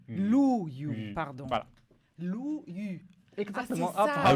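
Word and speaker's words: 陆羽: On prononce Lu. Lu Yu, Yu. pardon. Voilà. Lu Yu.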